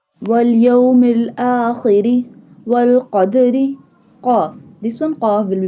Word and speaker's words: qaf: Qaf. This one qaf will be bold and pronounced from the root of the tongue touching the soft part of the palate.